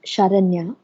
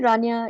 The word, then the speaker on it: Sharanya: you enjoyed it um the correct way to say my name is sharanya yeah and but that's okay uh lots of people even right here in tamil nadu get it wrong so you can call me rania if you're more comfortable